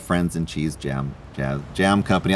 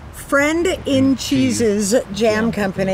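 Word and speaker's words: Friend in Cheeses Jam Company: Like, what was the genesis of Friends and Cheese Jam Company? I'll never say it right. Yeah. Friend in Cheese's Jam Company.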